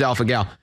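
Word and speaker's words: alpha-gal: Is that the pronunciation? It is alpha gal.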